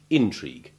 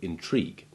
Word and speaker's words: intrigue: as you just heard intrigue when used as a noun the change of stress distinguishing it from the verb intrigue this does not happen